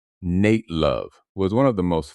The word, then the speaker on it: Nat Love: Nat Love, pronounced Nate Love, was one of the most famous black cowboys of the American West.